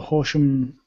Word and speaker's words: Horsham: And speaking of Sussex, Joe was asking about the Horsham. Am I pronouncing that right? Sorry, is it Horsham co-working events or?